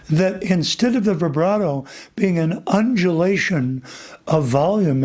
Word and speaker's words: vibrato: Did I say it right? Vibrato, right? Because it's Italian. Vibrato. That's right.